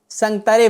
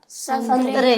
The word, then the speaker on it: سنگترے: ایک شخص تھا جو سنگترے بیچ رہا تھا۔ کیا؟ سنترے۔ ہاں سنترے بیچ رہا تھا، دراصل اس کا جو اصل تلفظ ہے وہ سنگ ترے ہے۔ کیا ہے؟